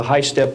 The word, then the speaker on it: HySTP: program, and also on the high-step program, that's spelled HYSTP, means Hypersonic Testbed Program.